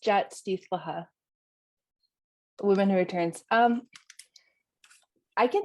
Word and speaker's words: Jaat Sdiihltl’lxa: It's pronounced Jat Stithlaha, Woman Who Returns.